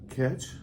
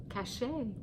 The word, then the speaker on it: Cachet: Catch? Cachet. There's even a dash over the E for you. Yeah, I say catch every time she tells me to pronounce that, and I don't know why.